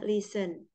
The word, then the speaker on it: listen: ketemu tulisannya seperti ini nah ini t-nya e ya t-nya nak perlu di enggak perlu dibaca bacanya listen gitu aja ya listen listen Len l Heeh